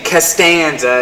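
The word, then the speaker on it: Costanza: purposely mispronounced my name instead of saying castanza it was can't you can't stand you you made me smell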